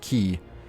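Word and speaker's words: Qui: is French himself and that is how you spell it in French and it is pronounced key but it's kind of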